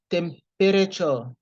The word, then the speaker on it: temperature: Temp, not tam. Temperature. You don't pronounce E there, so you just say temperature.